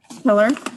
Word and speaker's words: Pillar: let me turn off that how do you pronounce the last name pillar your honor pillar all right this is a matter of rebecca